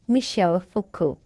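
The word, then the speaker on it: Michel Foucault: Again the name is pronounced Michelle Fuku.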